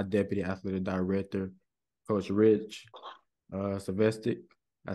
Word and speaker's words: Zvosec: I'm here today with a special somebody that I watched do it, grow in his profession, my deputy athletic director, Coach Rich Zvosec.